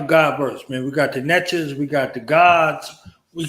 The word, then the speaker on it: VENJAHS: Hey, when you say it, you got to say it like that. VENJAHS.